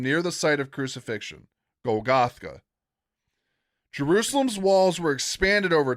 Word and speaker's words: Golgotha: has a distinctive cliff face resembling a skull or a Gothgaga or a Golgotha. Excuse me, I mispronounced that. Golgotha. Okay.